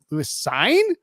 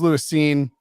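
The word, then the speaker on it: Lewis Cine: earlier it's like oh it could definitely be like louis sign but it is lewis scene chris quigley asked lewis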